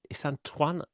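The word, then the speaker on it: Isandlwana: It's kind of Isantwana. got a click in.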